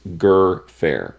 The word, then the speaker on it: Gfrörer: Uh I believe it's German, but um I did look it up and she says that she prefers her name to be pronounced Gerfair. So Julia Gerfair.